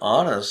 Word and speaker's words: honest: a vowel sound yeah the word honest starts with a vowel sound the H is silent so we have to